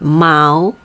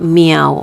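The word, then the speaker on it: 猫: go and then cat we call it mao okay not meow okay remember it's mao okay so this gold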